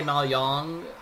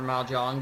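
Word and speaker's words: mahjong: they have you play maong or or ma Jong depending on your original accent however you want to pronounce that thing I like ma Jong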